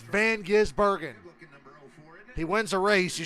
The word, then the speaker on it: Van Gisbergen: It's Van Gisbergen.